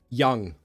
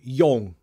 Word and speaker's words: young: grew up with this kind of series uh pronunciation Young um I often see these two words um mispronounced put them on screen first one she said Yong Yong no ya ah Young same for this